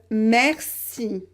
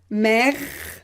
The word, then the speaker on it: merci: manières de différentes façons le e quand vous avez une consonne dans la même syllabes qui est juste après vous le prononcer et comme merci ouvert vous entendez le son rat mercy ou vert donc il ya une